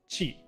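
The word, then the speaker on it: 血: It means blood, and it's pronounced chi. So if you got rid of the dakten here, it's just chi. But because sometimes when you have the second pronunciation after the first one, it adds the dakten. This one is specifically going from chi to ji. So that's why this one is specifically ji. Yeah, good example, King Julian.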